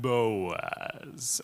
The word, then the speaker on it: Boaz: You got to pronounce every letter of that. Boaz.